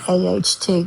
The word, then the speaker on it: out: The first word is the word at aht. We use that instead of saying out. Like I'm going outside.